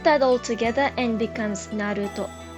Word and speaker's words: Naruto: becomes top put that all together and becomes Naruto second example is this we'll follow the